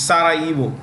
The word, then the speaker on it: Sarajevo: The J in this word is silent. It's Sarajevo, okay.